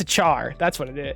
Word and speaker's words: char: say what triggered he's saying that car is pronounced care no it's a car come on it's a it's a char that's what it is it's a char okay